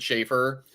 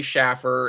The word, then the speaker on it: Schaefer: I mean, listen, like I said, older people, they will always pronounce it Schaefer. Younger people always say Schaffer, and I always have to correct them.